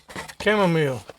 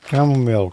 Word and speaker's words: chamomile: How do you pronounce that, Tommy? Chamomile. Chamomile.